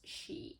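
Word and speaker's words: 四: Because the number 4 is sometimes pronounced as she, and she means death.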